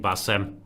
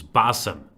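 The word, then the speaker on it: Bassem: I'm being told I've been mispronouncing Basem by saying Basem, and it's Basem.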